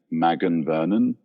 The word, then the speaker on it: Magan Vernon: in this month by I think you say her name Magan Vernon because it's m a g- an I I don't know